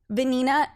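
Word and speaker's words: Vanina: actually a fun fact my middle name is venina which is a very Spanish name okay and it's spelled v a n i n a and I'm like a Sophia rhymes with venina right and then my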